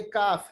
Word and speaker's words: کاف: کاف, یہ کاف ہے, کاف کاف. یہ قاف نہیں ہے, یہ ہے کاف.